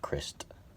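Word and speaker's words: Krist: And Chris Novoselic is Chris instead of Christ, spelled like that. It's said Chris still.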